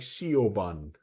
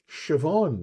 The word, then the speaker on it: Siobhan: So you would read the thing like sean. Yeah, that was. But she was like, "No, Siobhan."